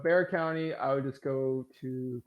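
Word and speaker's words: Bexar: san antonio county is called bear and it's spelled b-e-x-a-r jesus christ why um all right bear county i would just go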